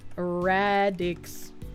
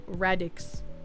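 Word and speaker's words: Rad-X: Radix. Radics. Raidex. Radix. Not radics.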